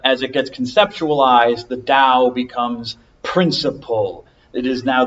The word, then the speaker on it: Dao: the way Gile system should actually be pronounced like a d it should be pronounced Dao so there's no difference in pronunciation Dao and down however I